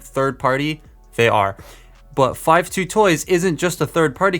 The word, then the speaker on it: 52Toys: video is sponsored by five two toys yes that is how you pronounce their name I asked them they